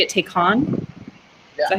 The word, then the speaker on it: Taycan: Do you say it Taycan?